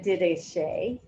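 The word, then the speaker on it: Didache: we have a document i have always pronounced it the dideshay it can be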